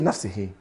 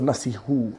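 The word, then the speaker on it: نفسه: The reason that's in he and not in who is because of this. The word before it is in si. It's just pronunciation. That's all. The Arabs said that if you have a kasra to make it easy on the tongue, so it flows easier, nafsihi.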